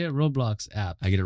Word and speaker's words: Roblox: you opened up, for example, like through a Roblox, how you say it? Roblox app.